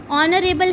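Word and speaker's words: honourable: हम अ से start, like ऑनरेबल, ऑनरेबल है तो एच से स्टार्ट होता है, लेकिन उसकी जो वॉइस है, जो उसका प्रोनाउंसिएशन है वो अ से, ओ का साउंड करता है, तो हम उसको ही इज़ एन ऑनरेबल मैन कहेंगे.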